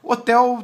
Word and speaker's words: hotel: relação a a um som que você deve pronunciar ou a mesma coisa na palavra helicóptero não é otel Talvez uma pessoa com língua de língua inglesa